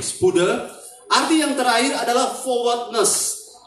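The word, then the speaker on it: spoude: Spode, S-P-O-U-D-E-E, D-E, spode ya, bacanya spude, S-P-O-U-D-E, spude.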